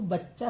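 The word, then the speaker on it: بچہ: तो हे जो है साइलेंट है, हे लगेगा नहीं लेकिन बच्चा। सीन चे सच, ये हे का चिन्ह है और ये चे है, ये बे है, ये चे है, ये हे का चिन्ह दे दिया लेकिन हे बोला नहीं जाएगा, साइलेंट रहेगा।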